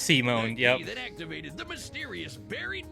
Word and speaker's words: Simon: I guess Simon was a digger, content to drill endlessly through the dirt until the day he found the core pronounced Simone that activated the mysterious buried mech that Kamina named Lagon.